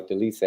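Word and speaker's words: Dolidze: There you go, Delise.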